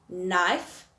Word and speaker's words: knife: Okay, so next one would be knee, knife, not, no.